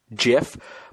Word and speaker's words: GIF: supposed to be pronounced jiff but it's graphic image whatever so it's a hard G so it's gift like let's not kid